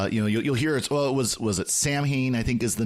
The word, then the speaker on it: Samhain: of Halloween, because you'll hear it was it Samhain, I think is the name of the feast. It was Samhain, they pronounce it, but it looks like Samhain, but Samhain, so and it's this ancient pagan festival, and